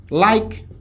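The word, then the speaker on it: like: আবার এল আই কে ই, উচ্চারণ হবে লাইক।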